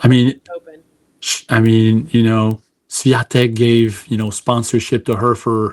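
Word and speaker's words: Świątek: So like Swiatek is Yeah. the SW is a V Yeah.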